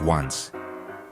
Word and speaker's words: once: Let's talk about once Chile's most confusing meal. Pronounced on it means 11 in Spanish, but it's eaten in the evening, not at 11:00.